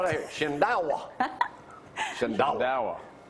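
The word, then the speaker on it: Shindaiwa: It is pronounced Shindawa. Well, if you already going to say it, then why didn't I say it? I know you're looking for your notes. I got to spell that here. Shindawa.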